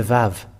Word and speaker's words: Vav: So this is the Vav. And this Vav, it is pronounced as V. But it's people who change it into U and U.